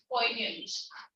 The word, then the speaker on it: poignant: That's pronounced as poignant.